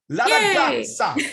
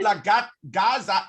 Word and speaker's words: ragazza: La ragazza. Actually, it's not la gaza, it's gazza.